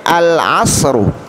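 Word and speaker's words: العصر: Berikutnya al-asru, al-asru, ainnya termasuk huruf qamariyah. Oleh karena itu cara membaca alnya dibaca dengan jelas dan terang.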